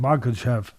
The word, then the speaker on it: Makhachev: As far as the other one with Makhachev and Volkanovski, I'm saying Makhachev's name right?